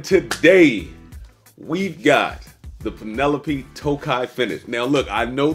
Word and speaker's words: Tokaji: your host Marin today we've got the Penelope Tokai finish now look I know the front looks like it says taji but it is not pronounced taji it is pronounced toai let's get it bottle drop bottle drop